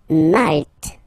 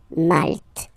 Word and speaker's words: Malte: Malte. Same thing here, you don't insist on the final E. Malte.